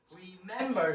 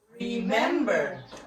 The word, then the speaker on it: remember: this one everybody read so how many syllables are there in the word remember are so the first syllable is we and then me and then ver so what do you think the the stress word here the syllable all right so stress word is in the second so it the pronation